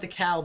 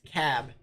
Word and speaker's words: DeKalb: have a good night The Ellen De cab is silent so it's not DeKalb it's cab interesting interesting any final